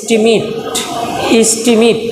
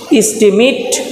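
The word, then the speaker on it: estimate: তো যখন এটা নাউন হিসাবে ব্যবহার হবে তখন এটার উচ্চারণ হবে ইস্টিমেট যখন নাউন হিসাবে ব্যবহার। যখন ভার্ব হিসাবে ব্যবহার তখন ইস্টিমেট নাউন, ইস্টিমেট ভার্ব।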